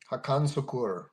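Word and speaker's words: Hakan Şükür: that's akmed that's Amed uh so his name is spelled h a k n last name s u kuur and he's from Turkey hakan suur hakan suur all right that was a that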